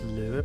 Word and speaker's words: Löve: It has an Ö, so it is an Ö for me, and that is all.